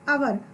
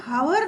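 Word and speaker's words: hour: तो इस प्रकार से जो शब्द हम ले रहे हैं, एन आवर, हम एन हावर नहीं बोल रहे हैं, हम क्या बोल रहे हैं एन आवर। यहाँ पर एच क्या हो गया है, साइलेंट हो गया है।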